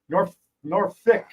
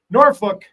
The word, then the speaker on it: Norfolk: Nor Norfick. Nor Norfolk. How is it pronounced?